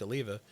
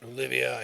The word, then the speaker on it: Oliva: And I smoked Oliva, although I mispronounced it for years. Olivia, he used to say.